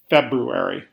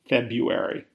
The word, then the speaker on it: February: pronounce it properly three February unlike January February has an R before the U which gets caught in a lot of people's tongues a lot of people pronounce February like February four floxinosa nylophilification the